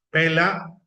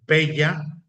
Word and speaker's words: Pella: Alejandro regresa a la ciudad capital, Pela o Pella, según quien lo pronuncie, y sale finalmente con su expedición de Macedonia contra los persas.